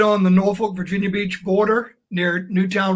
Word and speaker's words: Norfolk: So I always like to hear how other people, especially ones from here, pronounce it. Or Norfolk, yes. Norfolk, there we go.